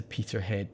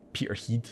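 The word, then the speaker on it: Peterhead: that's horrifying yeah awful he was sent to peter head prison peter heed as it's pronounced locally a grim remote present in the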